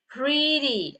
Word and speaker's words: pretty: Kebanyakan yang huruf T-nya di bagian belakang, yang suku kata kedua, the second syllables, okay? I mean like probably the last syllables, okay? Nah itu T-nya itu kita bacanya sebagai D, okay?